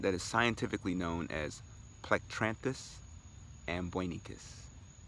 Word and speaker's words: Plectranthus: it's a plant that is scientifically known as plectranthus and Buena cos plectranthus and Buena cos it is spelt P l ec t ra n th u.s.